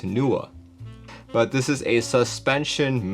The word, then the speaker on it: Nooir: the newa and one it is actually pronounced NOA I just watched their promo materials today that they posted on YouTube and at least the voice over pronounced it as NOA but this is a